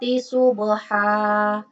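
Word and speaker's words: صُبْحًا: Selanjutnya dari contoh yang ketiga yaitu falmughirati subha. Di sini tertulis subhan. Tapi ketika waqaf dibaca falmughirati subha.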